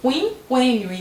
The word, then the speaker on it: quinquênio: Nós perdemos o trema, que é o sinalzinho que marca que o U é pronunciado antes de I e E. Mas você continua falando quinquênio e não quinquênio.